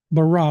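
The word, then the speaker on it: ברא: Veronica's asked how that's spelled. It is Beit Resh Aleph, or bara.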